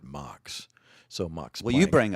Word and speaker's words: Max: Planck or I think he actually pronounced it mocks so MUX well you